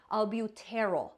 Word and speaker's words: albuterol: And I'm going to exaggerate the pronunciation to make it easier for my teaching, but albuterol, terol.